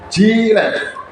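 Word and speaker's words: giraffe: Huruf G diucapkan J. Iya kan? Jiret. Jiret.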